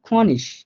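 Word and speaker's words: König: এটা উচ্চারণটা ভুল লিখছে, এখানে উচ্চারণটা হবে খনিশ, লাস্টে আইজি থাকলে ওটার উচ্চারণটা শ এর মতো করে হয়। তাহলে খনিশ, হ্যাঁ মানে ওটা ও উমলাউটটা বাংলা ও এর মতো করে হয়, বাট হালকা একটু নাকের মধ্যে নিয়ে বলে।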